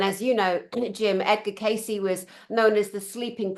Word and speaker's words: Cayce: And Cayce is spelt with a C, guys.